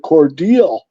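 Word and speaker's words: Cordele: going to run at he calls it cordal and that's how he he said that is the proper way to pronounce that he said he was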